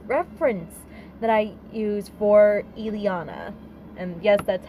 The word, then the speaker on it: Ileana: is the photo reference that I used for Ileana and yes that's how her name is pronounced she was born in Bucharest she was